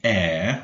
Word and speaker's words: heir: as many of you probably know, the heir to the throne, the heir, we do not pronounce the H, the heir is the next person to become, okay?